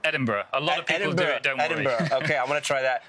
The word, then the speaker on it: Edinburgh: What's the right pronouncer? Edinburgh.